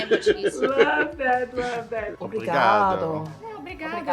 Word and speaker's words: obrigado: Obrigado. Obrigado. It's like thank you. Obrigado. I do say that a lot. Can you say apostrophe brigado?